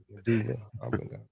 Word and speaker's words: medulla oblongata: E, the medulla oblongata. Wow. I said it right. Medulla oblongata.